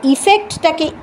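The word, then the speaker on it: effect: সুতরাং অ্যাফেক্টটাকে অ্যাফেক্ট হিসেবেই উচ্চারণ করতে হবে, আর ইফেক্টটাকে ইফেক্ট বলে উচ্চারণ করতে হবে। ইফেক্টটাকে অ্যাফেক্ট হিসেবে উচ্চারণ করলে কিন্তু হবে না।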